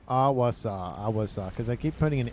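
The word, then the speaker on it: Ahwassa: Awasa. There was somebody in yesterday's video that was like, please pronounce it correctly.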